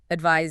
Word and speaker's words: advise: Advice has a z sound. Z. Advice. Advice. S. Advise Z.